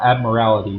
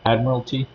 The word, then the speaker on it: admiralty: Admiral admiralty quote codes I can never pronounce it right not admirality but admiralty because it was a